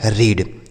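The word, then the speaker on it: read: तो इसे पढ़ा जाता है रीड। क्या पढ़ा जाता है? इसे रीड पढ़ा जाता है। ठीक है? अब इसे क्या पढ़ेंगे? देखिए आर से हो गया र। आर से फिर र हो गया और इ ए ई का उच्चारण बड़ी ई की मात्रा। इसे रीड पढ़ेंगे? बिल्कुल नहीं। यही गलत उच्चारण है। गलत प्रोनन्सिएशन है।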